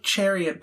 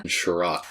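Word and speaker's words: Chiarot: I like Chariot better, though.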